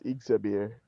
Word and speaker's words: Ixabir: So Ixabir, I just took the two I's, crossed them, and made them into an X and put it at the front. But it's the same pronunciation. It's Ixabir.